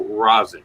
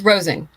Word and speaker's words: Rosing: I'm gonna ask you how do you pronounce the last did I go Razi is that right actually it's Rosie Rosie okay I got it